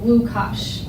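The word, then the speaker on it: Łukasz: but you pronounce it lukasz and you spell it with it looks like an l but it has a slash that's their w you will see our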